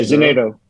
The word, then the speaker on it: Zenato: How do you pronounce it? Zenato? Yeah, Zenato.